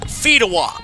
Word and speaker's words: Fedewa: They said it was going to be Fedewa. Fedewa.